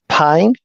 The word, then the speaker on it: Pain: name is and my last name is pain it's spelled p a i n like pain bring the pain it